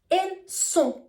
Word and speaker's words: sont: For example, we would say ils sont, ils vont, elles ont. The spelling is O-N-T, S-O-N-T, or V-O-N-T. But the T is always silent, and also the sound is kind of nasal.